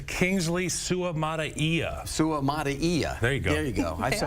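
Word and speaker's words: Suamataia: does is it allows him to move uh sutia go ahead it's Kingsley Su Maia Su Maia there you go there you go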